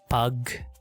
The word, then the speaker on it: pagkain: You have 2 consonants right here, right? But it's pronounced pagkain. Pagkain. Even though that in English or Latin languages, when you see 2 consonants like this, it's like what sound do you make? But there's a rest here.